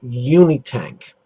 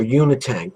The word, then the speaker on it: Unitank: discuss today is this it's the kanger uni tank or unit tank whichever pronunciation you care to use it's a polycarbonate clara